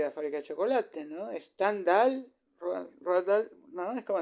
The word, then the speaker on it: Stendhal: lo que era alemán, entonces habría que pronunciarlo en alemán, habría que decir Stendhal y no Stendhal, porque Stendhal suena como